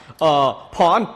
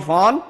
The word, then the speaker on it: Phon: Yeah, PHON, but it's pronounced pawn, like a chess pawn. And then a different person calls out my name for the order, so they call me Fawn, and I'm like, oh my gosh.